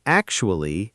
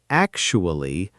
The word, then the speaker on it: actually: Both words are often overpronounced syllable by syllable when really they flow together quickly. Especially is especially, not especially, and actually is actually, not actually.